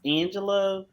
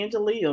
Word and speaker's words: Angela: It is actually pronounced Angela. It I'm used to people calling me Angelia.